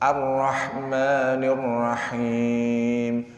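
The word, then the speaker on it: الرحمن الرحيم: juga keliru sebenarnya Hai jadi cuman sekali getaran tidak bergetar juga salah arrohmanirrohim enggak bergetar salah juga jadi bergetarnya sekali terlalu banyak bergetar rohingya itu juga keliru jadi bacanya arrohmanirrohim Hai Insyaallah ya terakhir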